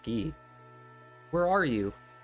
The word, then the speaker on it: Guy: am i leon maria guy he is pronounced key where are you